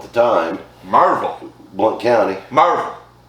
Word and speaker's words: Maryville: Marvel. And Say it right, Marvel.